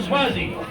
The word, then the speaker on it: Suozzi: Tom Suozzi.